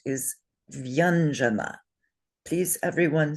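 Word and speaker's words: व्यञ्जन: The way it's pronounced is vyanjana, Please, everyone say Vyanjana.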